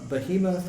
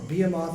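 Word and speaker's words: Behemoth: Um and then there's this incredible passage in Job 40 where it talks about uh Beahhemoth or Bemoth. I've heard this pronounced several different ways, but this incredible animal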